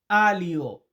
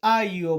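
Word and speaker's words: aglio: রসুন এটাকে আমরা ইতালিতে বলি আলিও আলিও মানে হচ্ছে রসুন বা অনেকে এটাকে আইও বলে এলের উচ্চারণটা করে না এরপরে আছে কি গাজর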